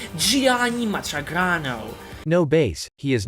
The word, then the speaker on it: Gianni Matragrano: Johnny Matragrano. That's right, Gianni Matragrano.